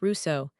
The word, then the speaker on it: Rousseau: Which is exactly why Jean-Jacques Rousseau, pronounced Rousseau, is one of the hardest thinkers in this whole series to summarize fairly.